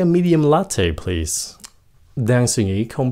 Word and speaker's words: latte: Cái chữ này không phải là latte, nó là latte. Latte.